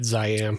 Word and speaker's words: Ziam: We're going to talk about a movie called I assume you say Zam. Yeah. Is that how you pronounce it? Yeah. Zam.